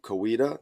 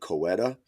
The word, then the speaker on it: Coweta: Oklahoma area but specifically Coweta okay Coweta that's how we pronounce it all right because when I packed your packages I was I was like is it coeta right it happens all